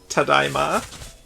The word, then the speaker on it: tadaima: down to your superior knowledge of how to pronounce hokatate. Right, like if you enter a house and you're like home, you say Tadaima, I think.